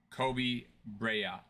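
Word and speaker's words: Kobe Brea: Fleming's first name is pronounced Rashir and Bria's name is pronounced Kobe Bria.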